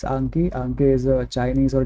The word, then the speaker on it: Anki: And by the way, before we continue, it's not Anki, it's Anki. Anki is a Chinese or Japanese word for memorization. So it's actually pronounced as Anki, not Anki.